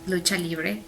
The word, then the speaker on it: lucha libre: It's a pretty fun culture in Mexico City, that lucha libre, know.